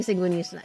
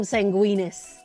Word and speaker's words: Sanguinius: You're saying Sanguinius. See, I'm saying it right. And I'm not calling him Sanguinus.